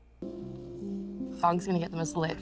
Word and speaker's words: Fong: Fong. I have brain Fong. fog. Can you spell it? F-O-N-G. Okay. Like song.